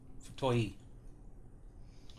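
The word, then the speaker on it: 太い: Okay, well, I know the character, it's just I wasn't sure how to pronounce it. Oh, Futoi.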